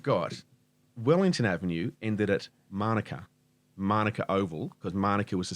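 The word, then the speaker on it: mānuka: Same as Manuka. Yeah. The people talk about Manuka. No, That's the Pakeha way of saying it. They always emphasise the first syllable.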